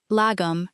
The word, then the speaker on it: lagom: Lagom, pronounced roughly lagom.